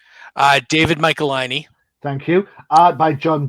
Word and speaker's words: David Michelinie: David Michelinie.